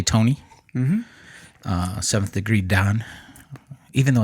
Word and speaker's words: dan: uh with Sensei Tony mhm uh seventh degree Don even though it's spelled Dan I know I I man I